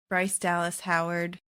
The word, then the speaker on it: Bryce Dallas Howard: Also, and I know that Bryce Dallas Howard, did I say it right?